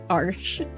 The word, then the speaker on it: Arches: I learned how to pronounce that. Arches.